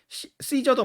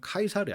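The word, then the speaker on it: Caesar: 독일어권에서는 일러라 읽는 이름인데 영어권에서는 러라 그냥 읽어요 시저도 마찬가지 여러분이 잘 아는 그 시저도 로마시대 그죠 시저도 그 영어식 발음이 시저 그 라틴어로 로 그 원어 그대로 로마 사람들이 썼던 말이 라틴어가 라틴어로 읽으면 카이사르 카이사르 그래서 아 여러분이 역사책에서 세계사 뭐 이런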